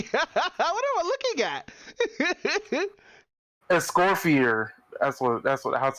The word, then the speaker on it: Escoffier: Escorfier. That's how you say her name. Ew, that name's fucked, by the way. Wait, how? Escofonier? That's what I hear. Escoffier.